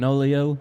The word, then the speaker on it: Fenolio: Fenolio, you ain't Coolio. There we go. If you ain't Fenolio, you ain't Coolio. Also rhymes with Pinocchio.